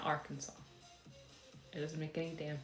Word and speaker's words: Arkansas: the fact that like Kansas is pronounced Kansas and Arkansas is pronounced Arkansas so mad I was